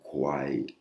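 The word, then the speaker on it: ควาย: On va en écouter un, par exemple, le mot kwai, qui veut dire buffle en thaï, enregistrement natif. Kwai. Kwai, hein, vous avez bien entendu, kwai, hein, ça, on fait un petit peu racler la gorge.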